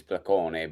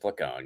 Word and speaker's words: Placone: I mean, the the technical Italian pronunciation is pleone, but you know, uh, in English, it's just pleone.